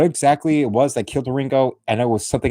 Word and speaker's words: Wieringo: that's how you spell the last name, Wieringo. Yes, Weir mixed with Ringo.